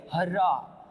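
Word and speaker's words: hurrah: अगला सेंटेंस आपके समक्ष है, शी शेड हर्रा, है ना। इसका जो प्रोनाउंसिएशन है अ की ध्वनि देगा, ऊ की नहीं देगा।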